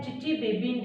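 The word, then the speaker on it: Chichibabin: क्योंकि ये name reaction है, चिची-बेबीन रिएक्शन इसका नाम है, T साइलेंट है, चिची-बेबीन रिएक्शन।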